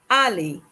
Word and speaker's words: aller: Aller. Spelled A-double-L-E-R. It is pronounced aller.